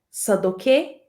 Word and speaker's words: Sadoque: sabe aonde sadoque mora lembremos que sadoque é assim mesmo a pronúncia do nome dele André até meus irmãos